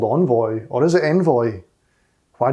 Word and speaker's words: Envoy: to be looking at something called envoy or i think as it's pronounced envoy but i'm going to be saying envoy i'll probably jump between the two and be really annoying but i'll probably say envoy for the most part so yes if the